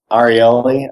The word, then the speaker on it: Ariely: It's called A Beginner's Guide to Irrational Behavior, and it's done by Dan Ariely. I think that's how he pronounces his last name.